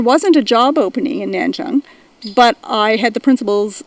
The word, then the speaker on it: Nanchang: liked which was in nanchang which at the time we called nan chang because that's how it was spelled and that's how we thought we pronounced it and i so i